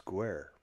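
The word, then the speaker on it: Guaire: It's in Wicklow, and it's called Gorey, and its name in Irish is Guer, and it is spelled Guiaore, Oh wait, dig.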